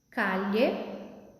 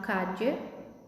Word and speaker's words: calle: Calle, que significa rua. Em algumas regiões é pronunciado calle ou cache, mas vamos pronunciar como se fosse o LH. Calle, muelle, camello.